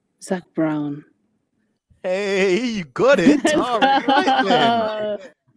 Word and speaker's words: Brown: However, his last name rhymes with town. Zach Brown.